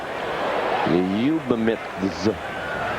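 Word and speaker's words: Liubiemithz: His first name is spelled L-I-U-B-I-E-M-I-T-H-Z. Liubamitz.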